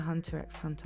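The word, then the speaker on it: Hunter × Hunter: Did I read the Hunter x Hunter manga? Hunter, sorry. Don't pronounce the X.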